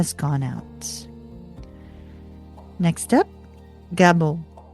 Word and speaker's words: Gebo: Next up, Gebo. Gebo, g e b o, is the gift.